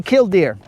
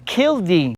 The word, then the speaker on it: killdeer: So I say killdeer. Okay. But We're these on the guys. same page. Yeah, but these guys that I was talking to, they said no, it's kildee, and I was like, bro, I'm done.